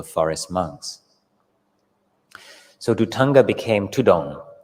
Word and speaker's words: Thudong: monks so dutanga became tudong the thai word the derivation or the way it's pronounced is tudon so forest monks began